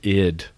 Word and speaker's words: id: on it now it's it's just pronounced id whatever is it id yeah oh yeah okay